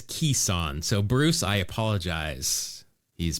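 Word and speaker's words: Kison: The pronunciation says Kissan.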